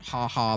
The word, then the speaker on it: Jaja: This is the Jaja al Chili sign, and yes, I know it's pronounced haha before you get angry in the comments or something.